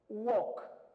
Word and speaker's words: walk: Walk. On ne prononce pas le no, c'est walk.